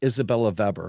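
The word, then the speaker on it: Isabella Weber: and a lady named Isabella Veber who is a really really brilliant uh economist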